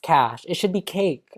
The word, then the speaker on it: cache: idiot because it's pronounced cash like there was like